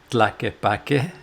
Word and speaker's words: Tlaquepaque: It's kind of hard to say, but Tlaquepaque is how you say it, and it kind of resembles this Mexican village, kind of like Guadalajara.